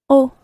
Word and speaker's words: eau: The word for water in French is eau. Eau. It's spelled E-A-U, eau.